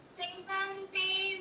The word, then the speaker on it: सीदन्ते: सीदन्ते मम गात्राणि मुखं च परिशुष्यति वेपथुश्च शरीरे रोमहर्षं च जायते।